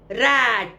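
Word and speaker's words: rate: रैट, मुंह फाड़ के।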